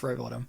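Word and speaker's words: Rowbotham: oh okay yeah yeah but it's pronounced Robottom yeah so in in this book which is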